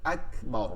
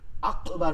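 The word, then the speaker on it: أكبر: তাকবীরটা হয় কি, উচ্চারণটা কি হবে, আল্লাহু আকবার, আল্লাহু আকবার, আল্লাহু আকবার না, কিন্তু কাফ হবে। আকবার অর্থ হচ্ছে মহান, আকবর, আকবর। আচ্ছা, সানা, সানা অর্থ হচ্ছে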